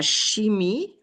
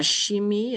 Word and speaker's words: chimie: La chimie is chemistry. Notice in French the CH is pronounced like an SH and an I is pronounced like a long E. La chimie, chemistry, and that would go under la science.